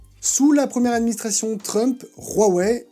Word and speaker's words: Huawei: Sous la première administration Trump, Huawei, et oui ça se prononce bien Huawei et pas Huawei, donc la marque se prononce Huawei, a été accusé d'espionnage grâce à des backdoors présentes sur ses routeurs.